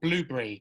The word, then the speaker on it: Blubrry: I use a platform called Blueberry, but it's spelled Blubrry.